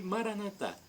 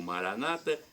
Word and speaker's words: Maranata: E Maranatá, como dizemos nós católicos, ou Maranata, como dizem os evangélicos ou protestantes.